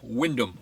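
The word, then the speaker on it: Wymondham: a job back to wyndham or wyman ham as it's spelled really annoying for me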